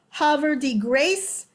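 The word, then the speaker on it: Havre de Grace: philadelphia line through virginia hover the grace as eastern marylanders pronounce it and the district of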